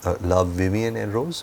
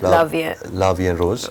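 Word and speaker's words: La Vie en Rose: I just saw La Vivienne and Rose. How do you pronounce that? La Vie and Rose.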